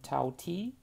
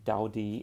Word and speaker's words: Tao Ti: sparkling mango peach drink from the taiwanese brand tau t uh as it's pronounced here but it's actually daudi in mandarin anyway and this is from their